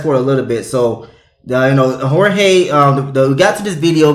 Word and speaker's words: Jorge: I want to make sure I'm pronouncing it correctly. Yes. Hold on 1 second. Excuse me, is it George or is it Jorge? It's both, but Jorge is what it is.